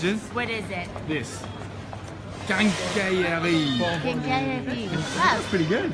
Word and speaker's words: quincaillerie: you know what the hardest word to pronounce in the whole French language is? What is it? This. Quincaillerie.